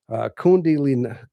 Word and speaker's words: Kundalini: Okay, Kundalini, Kundalini. Kundalini. Okay, thank you for that correction of the pronunciation on that.